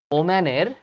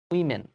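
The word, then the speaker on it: women: plural হচ্ছে main আর ওম্যানের plural কিন্তু এটা উইম্যান নট ওম্যান উইমেন আচ্ছা উই মিন আসলে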